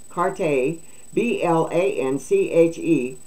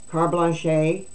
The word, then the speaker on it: carte blanche: I used to say that word is C-A-R-T-E, carte, B-L-A-N-C-H-E, blanche, to continue their ridiculous pricing.